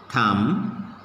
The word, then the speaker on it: thumb: Like lamb, bomb, tomb, limb, climb, dumb, womb, thumb, plumber, okay, everywhere, whatever the words I have written here, in all these letters, B is silent, okay.